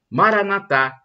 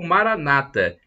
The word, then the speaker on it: Maranatha: o aramaico temos a expressão Maranatha com a tônica na última sílaba co os católicos ou Maranata com a tônica na penúltima sílaba tão dizem os protestantes o significado é o